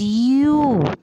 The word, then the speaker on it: ewe: Ram is EWE, and its pronunciation is U.